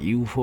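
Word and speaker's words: ЮФУ: Actually এটাকে ইউফো বলে না, যদি আপনি ইংরেজি শর্ট ফর্ম দেখেন তাহলে SFUDE এরকম কিছু একটা আসে, কিন্তু রাশিয়ান ভাষাতে মানে রুস্কি ভাষাতে এটাকে ইউফো বলে এরা উচ্চারণ করে।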